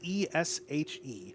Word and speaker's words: Esch: it might be Ottilie, but either way, Esch is Eshe.